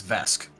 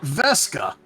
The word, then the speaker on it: Vesque: enough stairs but it's vesque not veska vesque from an entirely different region and not at all related yes no I think that's fine I feel sorry my name is not vesca missing a syllable not the same this